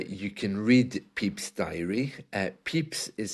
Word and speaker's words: Pepys: Samuel Pepys' diary provides an invaluable first-hand account of this